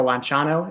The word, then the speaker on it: Lanciano: the first one is lanciano or lanciano is the proper pronunciation which uh basically a